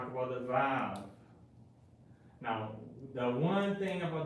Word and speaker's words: Vav: It sounds like a wa or a va, depending, like the way the ancient in Hebrew was pronounced. A lot of people say that it was pronounced as a W.